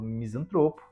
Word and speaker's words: misantropo: A prosódia, que trata da correta acentuação tônica, classifica o vocábulo misantropo como uma palavra paroxítona.